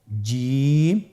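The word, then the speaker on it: جيم: প্রথম হরফটি হলো জিম, পরের হরফটি হা, পরের হরফটি খ। আপনারা আমার সাথে বলুন জিম, হা, খ। জিম হরফটি বারিক হরফ, এটা উচ্চারণ করতে হবে 3 আলিফ টেনে।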